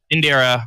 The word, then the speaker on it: Indira: Am I pronouncing it right? No. Indira.